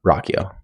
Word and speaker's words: Ruocchio: Rockio. Rockio. Yeah. Yeah. Rock. I had to pronounce it wrong until I saw an interview.